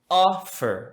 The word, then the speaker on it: offer: Offer, ok? A tônica está na primeira sílaba, logo não dobramos a consoante.